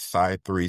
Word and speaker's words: Cy3: It is SY3 security. So, that's spelled C Y and then the number three security. SAI being short for cyber.